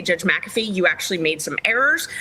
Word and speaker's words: McAfee: Supreme Court Days Later maffy McAfee sorry I've had you guys correct me on the pronunciation of his name that it's McAfee and I I I